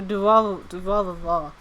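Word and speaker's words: Durarara!!: You could also say but yeah, that is how you pronounce it. So Durarava.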